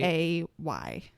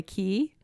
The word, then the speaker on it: Cay: Like K as in kite? Cay. Oh, okay. I know. I always thought it was called Castaway Key. Oh. Maybe it's pronounced that way, but it's Cay.